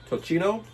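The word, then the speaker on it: tocino: Is it to Am I pronouncing it right? Tossino. Toino or Tosino? I think it's Tossino, right?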